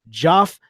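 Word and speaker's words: Geoff: Man, we've got Robin Vick, Joff Corey, and Mario Davila, who's actually all right. So let me start back up. Did I mispronounce any of those? You mispronounced Jeff. No, it's Joff.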